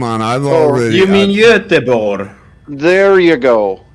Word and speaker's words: Göteborg: It looks like Gothenburg, but it's pronounced... Anyone? Well, I've been there, and I always called it Gothenburg. Come on, I've already... You mean Göteborg? There you go. Göteborg.